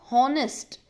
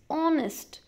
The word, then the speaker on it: honest: so n same honest it's not honnest it's honest so it's starting with the vowel sound of O so n understood students